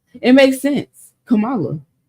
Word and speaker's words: Kamala: But this how you pronounce this girl name really is Kamala. It makes sense. Kamala. Kamala.